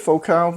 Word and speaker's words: Focal: I pronounce it Focal because I speak French, and this is a French company.